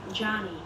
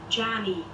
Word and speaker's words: Djany: Here's how you pronounce my name? Djany. Did you hear that? Djany. Djany, yeah. That's how you say my name.